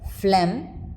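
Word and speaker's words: phlegm: as in ghost a GH silent when followed by m or n as in flam sign not the alic variants of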